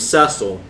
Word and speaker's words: Cecil: If you're not aware, so Final Fantasy IV is the story of a young man named Cecil. According to the DS pronunciation, the DS voice acting, a young man